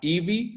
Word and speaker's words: Evi: Se llama Ivy, se escribe E-V-I latina.